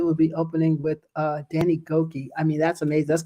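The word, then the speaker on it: Gokey: And it's Danny Goki.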